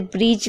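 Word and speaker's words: bridge: D silent रहता है जी से पहले कभी भी डी आएगा तो डी साइलेंट रहेगा याद रखिएगा जी है और उससे पहले अगर डी है तो डी साइलेंट रहता है जैसे ब्रिज में आप देख रहे हैं देखिए ध्यान से डी है और उसके बाद जी है तो डी साइलेंट है इस तरीके से भी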